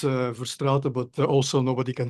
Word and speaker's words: Verstraete: It's Verstraete, but also nobody can pronounce it.